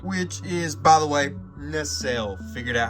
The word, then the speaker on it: Nacelle: A NL, that's how you pronounce it.